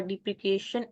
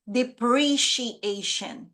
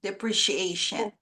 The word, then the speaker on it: depreciation: the result of earning before interest tax uh deprecation and apodization last the Total Line called total interest deprecation and otation okay Raman this word is pronounced as depreciation depreciation so depreciation means when you buy something new